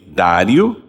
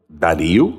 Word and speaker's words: Dario: Este Daniel, pois, prosperou no reinado de Dário, ou Dario, né? Conforme o local, a pronúncia, etc. Eu acho que é Dário. Muita gente fala Dario, eu também às vezes falo Dario. Então nós podemos falar as duas formas.